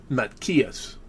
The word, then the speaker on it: Matthias: The name Matthias, and they didn't have the sound, TH sound. It was Matkias. The H was like a hard G. In some dialects it was silent. Some dialects it sounded like a K. Matkias.